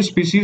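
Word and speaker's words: species: ऑफ स्पीशीज ठीक है स्पाइस नहीं है ये स्पीशीज होती है स्पीशी को हम बोलते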